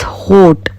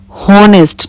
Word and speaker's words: honest: You cannot speak like this, honest, not ho, it's honest, o.